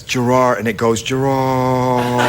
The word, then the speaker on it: Gerard: we do the opposite in Scotland it's Gerard it's like the it's yeah gered it's the emphasis on the first part but here in America it's Gerard and it goes Gerard